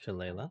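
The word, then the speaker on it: Shillelagh: staff and use my bonus action to cast Chilea as we figured out how it's pronounced. Yes. Shala.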